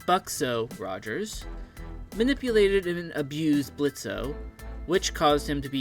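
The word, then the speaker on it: Blitzø: 467 we have spider Blitz and yes the O is silent back on track blitzo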